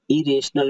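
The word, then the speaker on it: irrational: आई को ई पढ़िए, और RRATIONL, रेशनल, इरेशनल मीन्स अज्ञानी।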